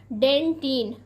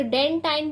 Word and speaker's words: dentin: Second है हमारा डेंटिन। प्यारे बच्चों, इससे कुछ लोग डेंटाइन भी पढ़ते हैं, लेकिन इसका सही जो प्रोनाउंसिएशन है वह डेंटिन है।